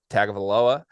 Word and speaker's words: Tagovailoa: Look, Maryland was a very good football team early in the season with Tua's brother, Tagovailoa, and he got hurt. And they were horrible for 3 weeks.